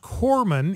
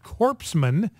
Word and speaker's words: corpsman: about corpsman it's pronounced Corman and he pronounced it corpsman uh pronounce it like it is spelled instead of like it is pronounced and he's on Jay